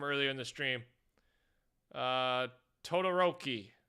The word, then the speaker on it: Todoroki: in the Stream uh Todoroki Todoroki we're going with that apparently I said it right from my hero Academia